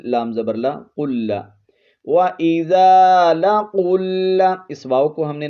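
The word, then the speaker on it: لقوا: وَإِذَا لَقُوا الَّذِينَ، یہاں پر لام زبر لا، قوف لام پیش قل، قوف کو اوپر پڑھیں گے اور قاف کو لام کے ساتھ ملائیں گے، قوف لام پیش قل،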